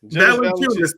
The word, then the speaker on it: Valanciunas: Valanciunas. Thank you. I can't pronounce that shit, but it's interesting, right?